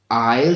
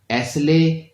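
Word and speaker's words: aisle: इसकी तीसरी सीट को इंग्लिश में आयल सीट कहते हैं। इसको कुछ लोग एसले या एसल पढ़ते हैं, बट इसका एस साइलेंट है। इसको आयल सीट कहते हैं।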